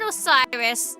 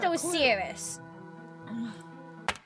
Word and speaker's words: Osiris: no way this isn't it's Osiris there's no way it's not Osiris it is not so serious you have an idea which is like I don't care if you think it's pronounced so serious you're wrong it's Osiris click on any of